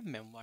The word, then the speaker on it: memoir: मेमोयर जो है इसको जनरली प्रोनाउंस किया जाता है एज मेमोयर, बट इसकी प्रोनाउंसिएशन एक्चुअल में है मेमवा, ठीक है।